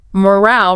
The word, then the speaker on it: moral: Precisely. The pronunciation has a shorter o sound.